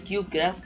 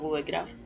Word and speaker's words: CubeCraft: Y bueno chicos, estamos en el servidor de CubeCraft. Ahora sí pronuncio bien, que siempre digo CubeCraft.